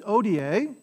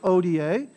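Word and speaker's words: hodie: Quotidianum da nobis odie, so the H is silent, odie, et dimite nobis debita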